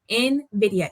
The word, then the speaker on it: Nvidia: y'all it's in like the letter in viia Nvidia e Nvidia Nidia not n in so I